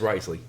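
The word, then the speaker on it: Wriothesley: Ridesley, I think? Yes, Risley. Yeah, I can pronounce things.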